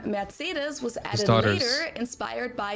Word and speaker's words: Mercedes: Um, so most Americans call this Mercedes. In German, we pronounce it Mercedes.